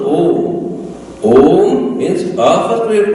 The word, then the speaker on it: Om: Like A merges into U when you pronounced Om.